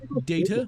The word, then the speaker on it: Data: Although technically his name is pronounced Data. With you. Technically, Yeah, I said Data, didn't I?